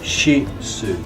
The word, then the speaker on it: Shih Tzu: And The word is Shih Tzu. Shih Shih Tzu. Tzu. Shih Tzu. Shih Tzu. Shih Tzu. Okay. There is no T there. The T is silent.